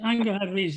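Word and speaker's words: Angharad Rees: Now, another woman celebrity this time who clearly impressed you was Angard Rees. Am I pronouncing that correctly? I am, I think. Angard Rees, yes.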